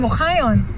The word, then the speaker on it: Ohayon: Ohayo is like my last name, Ohayon.